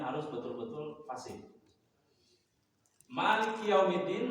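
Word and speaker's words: مالك يوم الدين: Maliki Yaumiddin maknanya dibaca panjang. Dalnya di dalnya itu ada tasydid harus dibaca.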